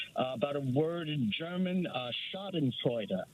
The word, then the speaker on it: Schadenfreude: show, I believe, about a word in German, Schadenfreude. Right. Mm-hmm. So I was right. That's how. Yeah, that's exactly how you pronounce it, because I used to live in Germany, and German is second language for me.